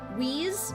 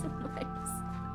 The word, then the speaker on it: Weisz: No, I know how to say it. I just said wheeze on accident. I know, it's vice. Or vice, I guess.